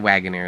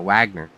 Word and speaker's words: Wagner: Can't say a wagon ear. It's a Wagner.